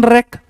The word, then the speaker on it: wreck: Wreck means shipwreck, aeroplane wreck, damaged. Wreck is always used for ships and planes. Wreck. W is silent.